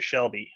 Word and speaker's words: Shelby: the same as your shelby shell shelby they both have the same short l sound sell sell sell sell